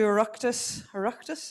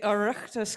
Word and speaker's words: Oireachtas: She's a member of a number of advisory groups and has presented to Oireachtas, is that how you say it?